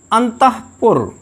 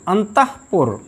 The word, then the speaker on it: अंतःपुर: इसका शुद्ध उच्चारण है अंतःकरण, अंतःपुर, हाँ नहीं, अंतःपुर, प्रातःकाल, प्रातःकाल नहीं, प्रातःकाल।